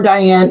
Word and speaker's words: Dianne: Or and it's Diane, not Diana, right? No, no, Is that's fine. That's fine. Yeah, either way. yeah, it's Diana. You can call me Diana or Diane, either or.